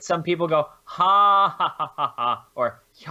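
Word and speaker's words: ห้า: The next thing is that in Thailand, the letter 5 is pronounced ha, right?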